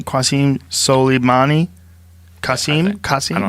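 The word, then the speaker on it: Qasem Soleimani: Qasim Soleimani?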